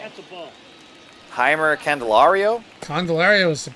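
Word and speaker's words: Jeimer: Heimer Candelario? Candelario is pronounced for the last one. My first name's a little tough for me. I'm going to guess the J is an H sound, so Right.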